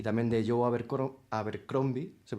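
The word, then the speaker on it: Abercrombie: Eh, pues por eso por esos años tendríamos las novelas de George RR Martin sobre el 2000 y también de Joe Abercromby. Se pronuncia así, Carlos.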